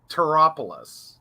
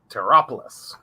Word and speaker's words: Tarotpolis: So we think it's Taropolis. Right. It's the word tarot plus the word polis, Polis.